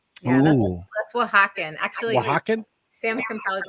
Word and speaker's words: Oaxaca: And now we're gonna do it's a 1/4 ounce of the Oaxacan chocolate syrup, right? Yeah, Ooh. that's Oaxacan. Actually, Oaxacan? Sam can probably pronounce it better than me.